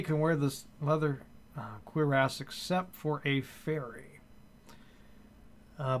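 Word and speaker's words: cuirass: if we look for example at this leather queer ass i could just apparently that's how it's pronounced sounds almost still dirty sanding but that's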